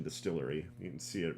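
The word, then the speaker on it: DSTLRY: So Distillery, they're charged, which is spelled what? DSTL RY. It's like an abbreviation, Distillery.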